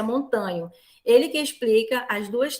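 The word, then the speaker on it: Montaño: Você vai lembrar que não, porque o endogenismo profissional é montanho, é montano, né? A gente pronuncia montanho.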